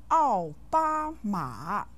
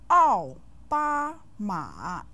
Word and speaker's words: 奥巴马: 奥 with the 4th tone, 巴 with the 1st tone, and 马 with the 3rd tone.